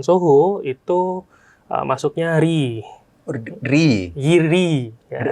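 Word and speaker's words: Reyee: SMB dan Soho itu ee masuknya RI RI Y RI ya. Riy itu kan bacanya R E Y E bacanya RI RI RI RI Oh oke oke oke.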